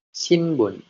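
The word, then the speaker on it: しんぶん: pertama itu ada shinbun shinbun shinbun yang artinya koran shinbun koran Nah di sini ada huruf hu yang ditambahkan Tenten lalu ee yang dibaca menjadi ada b-nya ya jadi shbun lalu di sini ada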